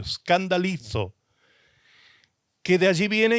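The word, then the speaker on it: σκανδαλίζω: En el original, escrito en griego, se escribe el griego castellanizado, se pronuncia escandalizo con Z al final, escandalizo con K al principio, escandalizo, que de allí viene y proviene la palabra escandalizarse, ¿sí?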